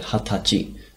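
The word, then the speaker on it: 二十歳: So notice we've got a bit of a different pronunciation with this guy. And also it's good to remember this other word, hatachi, which is when you turn 20 years old.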